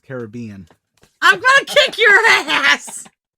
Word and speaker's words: Caribbean: Retake that, it's pronounced Caribbean.